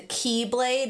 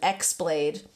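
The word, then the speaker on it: χ-blade: evil, was called the Keyblade with an X. It's spelt with an X. Always thought it was called an X-blade when I was playing it, because I didn't know the X was pronounced key.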